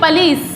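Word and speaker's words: police: अब देखिए, पुलिस की जो प्रोनाउंसिएशन होती है वो होती है पुलिस, क्या बोला जाता है, पुलिस, ओके, पुलिस, ले पे हम स्ट्रेस देंगे, पुलिस, पुलिस, ठीक।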